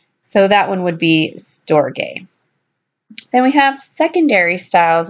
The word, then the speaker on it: Storge: It looks like Storge, S-T-O-R-G-E, but it's pronounced Storge.